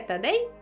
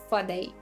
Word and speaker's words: Тадей: Не анатема, анафема, не атени, а афіни, не патос, а пафос, не етер, а ефір. Не тадей, а фадей. І це при тім, що,